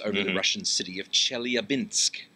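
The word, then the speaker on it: Chelyabinsk: the Russian city of chel abinsk chel abinsk I had I had Chet in my head for some reason but that's not right you have good pronunciation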